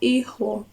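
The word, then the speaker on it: hijo: hermana brother is hermano son is Nino not Nino ijo daughter and then the Hedge is silent because the iho has an has a hedge but you don't pronounce it foreign and then everything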